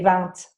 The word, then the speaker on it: vent: Actually, where I live in France, though, they do say vent with it. They say the t, but that's like a rural pronunciation.